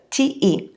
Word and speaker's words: te: When tu is the subject of the sentence, the reflexive pronoun is te, T-E. So te rhymes with je, so maybe that will help with pronunciation.